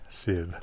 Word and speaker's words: Sif: more about his wife sid now i say her name like that because an f that does not begin a word in old norse is pronounced as a v you can see that